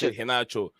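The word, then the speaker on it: Garnacho: you look at it it's gacho but it's pronounced haach H yeah oh yeah about the Argentinian Winger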